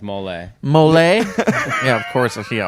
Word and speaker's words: mole: It's not pronounced really mole sauce. It's pronounced mole.